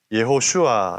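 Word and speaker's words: יהושע: 따서 붙여진 성경의 제목입니다 히브리어로 예 호 슈아 라고 발음하는 여호수아는 야외 라는 이름과 구원 하다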